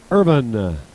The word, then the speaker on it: Irvin: And correct me on the pronunciation of his name, because it looks like Irvine, but it's really Irvin.